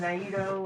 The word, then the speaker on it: Naito: what's his name knight naito n-a-i-t-o something like that nato they pronounce the next one naido and here's bushi bushi